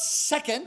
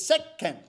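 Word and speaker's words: せっけん: a sound two okay the little two makes no sound okay it's a little celeb syllabaric letter that instructs you to wait infinitesimally before proceeding to the next syllable so it's not second which is what i was saying it's sec ken yeah i mean those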